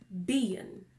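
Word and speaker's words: ben: the word for leg it has spelled be e in mispronounce bein so it's not been it's being which that's one thing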